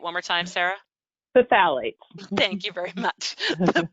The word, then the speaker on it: phthalates: sodium lauryl sulfate and the sulfates the the phlegolites the um sarah and i have this joke that i can't pronounce this word so say it one more time sarah the phthalates thank you very much the parabens the formaldehyde